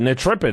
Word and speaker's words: Netrepid: I think we pronounce it Nitripid. Is that correct? Welcome to the program, Sam. Good morning. How are you? Yeah, good. Nitripid.